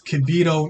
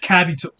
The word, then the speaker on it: Kibito: It's Kibito, not Kabito.